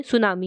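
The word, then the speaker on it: tsunami: उसे बोलते हैं सुनामी। ये नाउन, इसका मतलब होता है सुनामी। इसमें टी जो है वो साइलेंट होता है।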